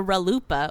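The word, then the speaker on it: RLUIPA: 2000, and it's and I like it because it rhymes with chalupa, so I say.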